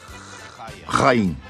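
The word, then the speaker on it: Haim: Pronuncia-se Rain, por favor.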